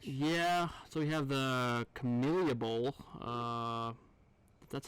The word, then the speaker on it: Camellia Bowl: Yeah, so we have the Camellia Bowl.